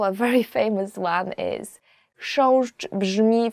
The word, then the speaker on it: Chrząszcz: Chrząszcz, beetle.